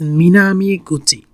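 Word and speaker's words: 南口: The pronunciation is Minami Gucci.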